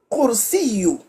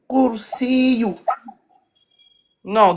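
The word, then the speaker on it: كرسي: Et à l'arrêt, comment on va le prononcer? Alaykoum salam. Kursi. Kursi. Kursi.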